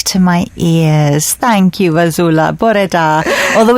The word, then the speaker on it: Vasoula: And I said, I'm going to see Vasoula. He went, no, you're not. Vasoula. Vasoula. I went, my gosh, I've been saying it wrong all these years.